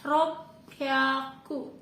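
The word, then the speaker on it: ろっぴゃく: 600 itu adalah ropyaku.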